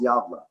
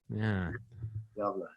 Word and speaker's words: Gävle: It's like Galve or something like that, right? Pronounced Gävle. Yeah. Gävle.